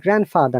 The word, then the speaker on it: grandfather: And grandfather, not grandfather, grandmother, any word with grand. Grandfather, grandmother, grandpa, grandmom, granddaughter, grandson. No D sound.